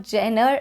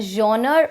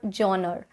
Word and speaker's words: genre: a bad joke but this is not jenner it's a genre or johnner okay not jenner number three we have